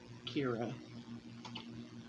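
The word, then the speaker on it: Keira: are called kira yes that's values for now pronounce it k-e-i-r-a kira but that's all from shot me say it's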